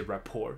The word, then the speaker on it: rapport: They clearly had existing rapport.这个字在那个人力资源管理是还蛮常见到的一个字，因为我以前拿过那个大学拿过这个课，所以那时候就有教到这个字，就你跟你的 interview 的对象需要先建立起 rapport，所以这个字的 T 不发音，因为它似乎不是英文字，不知道是不是法文字，所以它的发音就只是 rapport，所以他认为他们两个有现存的本来就有了一些 rapport，所以他觉得嗯，可能是了吗？